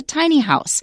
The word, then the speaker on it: tiny house: all all right and watch the stress because the first time it appears in writing you're going to say tiny house but the particular kind of house they're talking about here the stress is different it's a tiny house because it is already a thing it's a very specific kind of small house okay okay however this